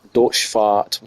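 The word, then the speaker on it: Deutz: uh a warrior um Dutch Dorch Dutch is how you pronounce it.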